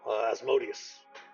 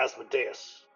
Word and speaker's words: Asmodeus: tantalizing paradise created by the arch devil Asmodeus, or Asmodeus, depending on how you wish to pronounce it, to tempt mortals.